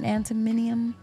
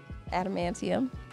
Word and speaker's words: adamantium: with regular bones it was just coated in animum did I say it wrong adamantium antium so what was it I think Striker